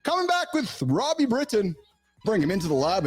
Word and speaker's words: Britton: from Italy so ironically my name is Britain but here in Italy they pronounce it Brighton so myself I just